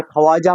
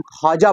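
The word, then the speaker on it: خواجہ: इसी तरह ख्वाजा, यानी ख्वाजा हम नहीं पढ़ते, हम खाजा पढ़ते हैं और वाव जो है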